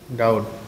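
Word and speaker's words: doubt: হবে ডেথ ঠিক আছে এইটা সরে যাবে ডাউট ডাউট ডাউট ঠিক আছে তো বলেন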